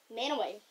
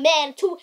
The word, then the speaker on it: Mantua: Manaway. Yeah. It's pronounced Manaway. Not Mantua.